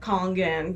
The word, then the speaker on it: Kangen: And what helps me is to think of like King Kong, like Kangen, because I've heard a lot of people that don't pronounce it correctly.